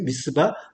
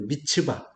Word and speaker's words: 미스바: 미스바. 미스바의 이제 원래 발음은 이제 미츠바.